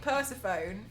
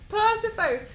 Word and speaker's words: Persephone: No, I'd never heard the word Persephone be pronounced. Sorry, Persephone, and I was calling it Persephone the entire time.